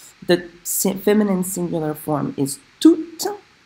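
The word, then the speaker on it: tous: The feminine singular form is toutes. The masculine plural form is tout. Now there I'm not pronouncing the S, not as an adjective.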